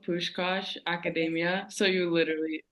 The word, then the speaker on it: Puskás Akadémia: uh your team name in in case I pronounced that wrong yeah so it's called push Kosh Academia so you literally said it right okay um